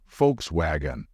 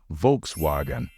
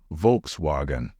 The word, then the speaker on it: Volkswagen: it be pronounced although in German it is pronounced as Volkswagen in English we say Volkswagen so the correct way to pronounce it is Volkswagen Volkswagen wagon what like the back of a